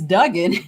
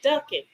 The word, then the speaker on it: Duggan: it had to be how do you pronounce his name it's it's duing but the reason I asked because somebody said yesterday ducking yeah they don't they